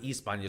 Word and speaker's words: Hispania: yeah there he goes he knows h's are silent that's crazy right so his his it's like hispania but it's they pronounce it eastbanja so if you want